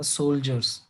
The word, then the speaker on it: soldiers: डी का pronunciation ज जैसे होगा, सोल्जर्स.